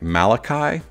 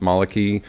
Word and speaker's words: Malaki: you can say it it looks like Malachi to me but it's actually pronounced Maly or variation thereof this line is a